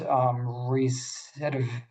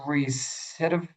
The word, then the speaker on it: recidivism: of a criminal defendant recidivizing, wait, cannot pronounce that word. The risk of recidivism. Recidivism. Yes, there we go. I was about to say like recidivizing, and that's totally off.